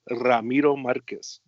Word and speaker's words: Ramiro Marquez: And it's funny because it's actually pronounced Ramiro Marquez. I'm a junior. That's you um, got to roll those R's up in there.